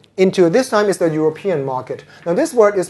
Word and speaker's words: European: word is not European the stress is not on rup it's on P European just like what you